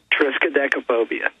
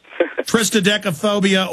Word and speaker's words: Triskaidekaphobia: How do you pronounce it? Triskaidekaphobia. Triskaidekaphobia, or Fear of 13.